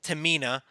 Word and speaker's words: Tamina: Tamina. Did I say it right? Actually, you did. Look at that.